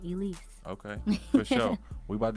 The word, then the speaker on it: 3Lise: three Leafs on there three l i s e but it's pronounced Elise okay for sure we